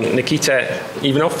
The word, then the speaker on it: Nikita Ivanov: And we've also got on the panel Nikita Ivanov, is that how you pronounce it?